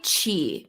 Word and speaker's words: Zhi: I have to ask why Chi Bath and Body it's spelled z-h-i right I I feel like